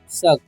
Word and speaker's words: suck: अब लिखा हुआ है SUCK, तो इसे क्या पढ़ते हैं? इसे सुक नहीं पढ़ते, इसे हम पढ़ते हैं शक। ओके, तो यहाँ पर यू का उच्चारण अ होता है।